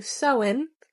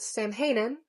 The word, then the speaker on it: Samhain: The dad ends up going in there anyway, and he finds a record which is connected to Soen, However, he pronounces it Samhain.